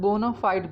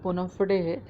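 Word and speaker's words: bona fide: इसको कुछ लोग बोनाफाइड भी पढ़ते हैं, तो आप बट इन जनरल जो एग्जैक्ट प्रोनाउंसिएशन है वो बोनाफिडे है ना।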